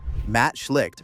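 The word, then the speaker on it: Matt Schlicht: It was built by Matt Schliked for pronunciation Matt Schlick over a single weekend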